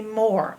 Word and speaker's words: more: Give me more. I want more. Or. And silent E. It makes no sound.